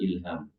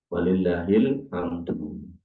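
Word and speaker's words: ولله الحمد: Allah Akbar, la ilaha illallah, Allah Akbar, walillahil ham, bukan ilham. Walillahil hamdu.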